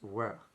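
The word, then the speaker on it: וְ: The conjunction here is what's called wav conjunctive, pronounced we, with a W, we, with a short schwa sound.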